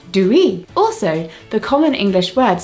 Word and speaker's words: dooey: In Polari, it is pronounced due.